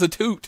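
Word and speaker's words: Atout: and I found out her name was a tutor by her because I had been pronouncing it out and she telling me it was a toot and she's like you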